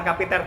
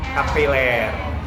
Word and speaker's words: kapiler: kayak gitu Happy tear Bukan kapiter tapi kapiler kapiler gesture udah bagus